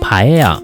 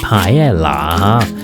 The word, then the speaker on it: paella: this time we will make a Spanish Rice Stew also known as Paella is wrong This word is pronounced "pie-ye-ya" not "pie-ye-la" Traditional Spanish paella does not contain seafood What ingredients are there?